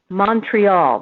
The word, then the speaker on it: Montreal: I'm talking about it's I have to say it the the English way Montreal that's how we say it right as we say it say Montreal like Munch and then when I